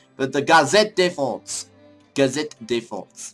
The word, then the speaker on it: Gazette de France: Gazette de France. That's how you say it. I wasn't saying it in the French accent.